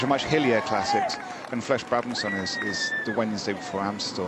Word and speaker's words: Flèche Brabançon: Flèche Brabançon. That's your preferred pronunciation.